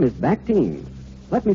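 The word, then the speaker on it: Bactine: odor there is one and its name is bacte let me spell that for you because i'm sure you'll want to remember to get it at your drugstore b-a-c-t-i-n-e bacte it's the newest development in the field of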